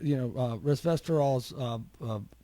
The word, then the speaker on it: resveratrol: And we see that resveratrol's. I have a trouble. I'm gonna have to go to Mitch for pronunciation lessons on that.